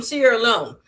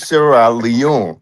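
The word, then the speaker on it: Sierra Leone: But first of all, the poor country is Sarah Leon. It's not I don't know how you pronouncing it.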